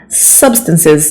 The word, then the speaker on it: substances: This is another one that people usually get wrong. Substances. The stress syllable is the very first one, okay?